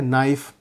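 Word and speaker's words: knife: जैसे अंग्रेजी में है नाइफ, अब उसमें नाइफ का जो के है वो साइलेंट हो जाता है, यानी मूक हो जाता है।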